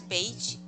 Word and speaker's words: beige: So could you So that's pronounce beige ah one more? beige, beige, Beige, beige. beige. So if you notice, there's no d, not j, j, j. J. Okay. Sh.